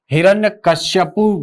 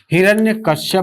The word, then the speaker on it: हिरण्यकशिपु: में से शुद्ध वर्तनी शुद्ध वर्तनी को हिरण्यकशिपु गलत लिख हिरण्यकश्यप भी नहीं होता हिरण्यकश्यप नहीं होता है उस समय ऐसा नहीं होता उच्चारण होता इसका निर्णय कशिपु याद रखिएगा इसको हिरण्य कश्यप यह शुद्ध